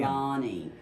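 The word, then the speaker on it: Lonie: This is well, it's spelled L-O-N-I-E. Everybody wants to say Lonnie. It's actually the way they spell Lonnie for one N. Lonnie.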